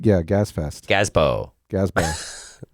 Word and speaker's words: Gazebo: Gazbo, Gazbo. like Expo. Right. Yeah, Gazebo. Gazbo.